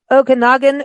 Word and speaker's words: Okanagan: speaking of golf so your destination is the Okanagan Valley did I pronounce that correctly yes you did oh I